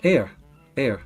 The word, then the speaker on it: heir: Heir.